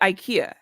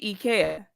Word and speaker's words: IKEA: Okay, so see, so people pronounce it IKEA. Oh, girl. But I actually lived in Germany, and I swear they pronounced it IKEA. And I tell people all the time it's IKEA, and everyone's like, "No, it's IKEA," and I'm like, "Americans, get it together."